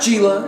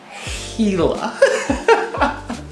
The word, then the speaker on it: Gila: of armchair anglers quite perturbed gila it's not gila it's not gila it's not gila jula whatever it's pronounced hela so i deeply apologize for all the times